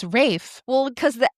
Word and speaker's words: Ralph: No, I thought it was like the PH or because it looks like Ralph Fiennes. Yeah. I thought that was silent. No, it's Rafe.